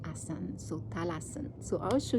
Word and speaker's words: asana: Western right as but we don't pronounce the a so we say asan so talas so I'll